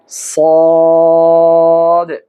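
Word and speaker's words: ص: যেমন শি এরপরে যে অক্ষরটি রয়েছে সে নাম তার নাম হল সদ এই সদ উচ্চারণ করতে হলে আপনাকে জিহ্বার আগা সামনের উপরে নিচের দুই দাঁতের আগার সঙ্গে লাগিয়ে উচ্চারণ করতে হবে যেমন সদ স এরপরে যে অক্ষরটি [সশব্দ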